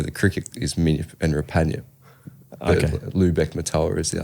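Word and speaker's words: Rupanyup: pronounce Ruppanyup? Rapanyup.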